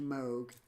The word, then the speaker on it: Moog: And so I took this really scary sounding uh artist voice of these satanic passages and I got my Moog Moog pronounced Moog.